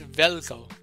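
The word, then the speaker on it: Veljko: Um it's Velco. It's Velco. I believe it's it's Velco. All right. There's no J. Jay is not pronounced.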